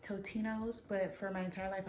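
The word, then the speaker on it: Totino's: I also have a Tostino's pizza. I know it's pronounced Totino, but for my entire life, I've pronounced it Tostinos.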